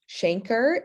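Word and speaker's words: chancre: primary stage it manifests with a shanker is how it's pronounced um at the point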